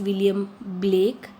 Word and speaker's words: William Blake: Please look at the pronunciation. It is not William Black, it is William Blake.